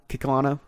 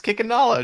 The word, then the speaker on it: Kikanalo: T-Rex than the original Kikalano. How do you spell it? How'd you say it? Kikalano. I just realized I never said it before. Kikalano. Yeah, Kikanalo. It's Kikanalo, dude. It's in the movie.